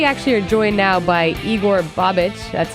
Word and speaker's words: Igor Bobic: We actually are joined now by Igor Bobic.